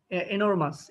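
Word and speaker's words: enormous: তোমাকে বুঝতে হবে আচ্ছা এনরমাউস এনরমাস এনরমাউস না এনোরমাস এনর এনরমাস হ্যাঁ তারপরে বলতে পারে গার্গেঞ্চ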